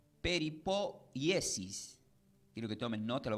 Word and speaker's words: peripoiesis: La palabra preservación del griego se pronuncia como peripoiesis.